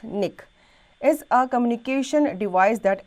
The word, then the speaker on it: NIC: A network card, sometimes called a network interface card, NIC, pronounced NIC, is a communication device that enables a computer or device that does not have built-in networking capability to access a network.